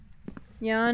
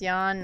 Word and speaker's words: Jan: Jan is male. It's pronounced Jan, not Jan, as in Janice.